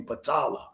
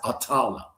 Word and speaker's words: Patala: It's really Patala, okay? Or some people pronounce it Atala.